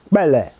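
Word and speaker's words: Kpelle: nursing she EO no she is bella bella bella they spell it k p e l l e which is a uh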